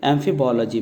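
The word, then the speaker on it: amphibology: Construction हैं उनकी study एम्फीबोलॉजी में की जाती है। एम्फी को याद रख लीजिए दो, और बोलॉजी, तो बोलॉजी जो है इसको हमने अलग से तोड़ा है। एक्चुअली इसके प्रॉपर प्रोनाउंसिएशन है एम्फीबोलॉजी, लेकिन हमने बोलॉजी को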